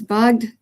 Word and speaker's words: bugged: And if it was bugged, it would be a voice sound.